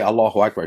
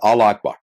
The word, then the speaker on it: Allahu Akbar: He says, if you hear a mumble something, and he didn't even say Allahu Akbar. He said, Allah Akbar. You know what I'm saying? Allah Akbar. Doesn't even know how to say it.